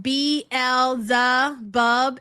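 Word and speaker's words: Beelzebub: Uh, it's pronounced B L the bub.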